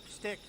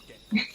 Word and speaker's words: shtick: Stick? No, it's shtick.